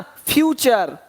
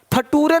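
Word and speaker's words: future: यहाँ पे देखिए क्या दिया है, कल्चर, पिक्चर, है ना, फ्यूचर। फटूरे नहीं बोलना कि देखो भाई ऐसा नेटर है तुम्हारा कि फटूरे खराब हो रहा है, नहीं, नेचर, फ्यूचर।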